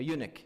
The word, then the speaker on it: eunuch: Anyone know what a eunuch is? Am I pronouncing it correctly? Someone who's castrated. A eunuch, yeah.